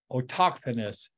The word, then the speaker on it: autochthonous: It's A-U-T-O-C-H-T-H-O-N-U-S, Autochthonous.